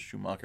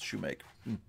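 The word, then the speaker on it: Shewmake: I thought it was Schumacher. It's Shoemaker. Forgive me, I'm going to pronounce his name wrong.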